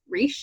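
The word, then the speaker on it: Reichs: And that is Deja Dead by Kathy Reish, I believe is how you say it.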